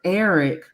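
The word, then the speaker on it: Arryk: even said that because technically their names are pronounced the same um Eric and Eric but it's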